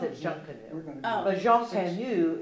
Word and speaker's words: Junkanoo: It's the way that it's in the Bahamas and stuff, that's their festival, but they pronounce it Junkanoo.